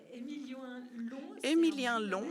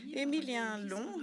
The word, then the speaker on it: Émilien Long: Émilien Long, that's how you pronounce it. Émilien Long, who is a Nobel Prize for Economics.